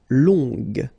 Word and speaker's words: long: uh okay so long remember you don't pronounce the final J will become long okay so phonetically it's